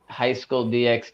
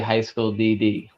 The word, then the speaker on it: High School DxD: biffed it um then how come no one ever dogs on anyone calling a High School DxD even though it's really high school DD timing just saying that's